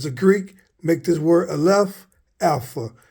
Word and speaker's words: Aleph: Looks like an N, but it is pronounced as Aleph for the A sound.